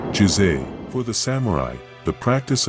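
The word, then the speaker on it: 自制: Pronounced, Jisei.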